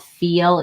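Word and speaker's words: Fel: The brand is called Feel, even though it's spelled F-E-L.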